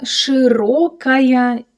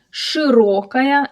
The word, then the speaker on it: широкая: And again, watch out the о in the word широкая. Широкая. Here, it's not reduced, because as we can hear the stress falls exactly on or so in this